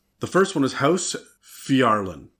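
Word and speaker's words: Phiarlan: The first one is House Fjarlin. That's spelled with a P-H-I. Fjarlin.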